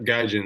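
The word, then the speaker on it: gaijin: know in 2024 a book titled a baseball gajin I'm pronouncing that correct right yep yep gajin that's it that's us gajin chasing a dream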